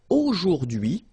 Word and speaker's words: aujourd'hui: Okay, H is not pronounced, so you only get this dui thing. Aujourd'hui. Aujourd'hui. And it means today.